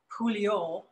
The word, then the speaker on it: Pouliot: So, and if I were to pronounce it with a French accent, it would be Pouliot.